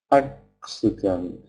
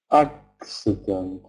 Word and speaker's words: accident: be let's look at another example ah acent accident ah is stressed the first syllable is stressed and the the second two syllables have Schwan sound accident accident appointment appointment can you hear how um